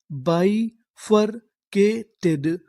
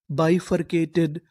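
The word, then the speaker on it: bifurcated: सी ए के टी ई डी। इसे क्या पढ़ेंगे? टड। तो हमारी पूरी मीनिंग क्या बनी? बफरकेटेड बफरकेटेड बफरकेटेड बफरकेटेड का मतलब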